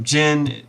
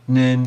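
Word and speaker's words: 人: Usually the common pronunciations are jin, nin, and hito. So jin and nin is the onyomi, kunyomi is the hito.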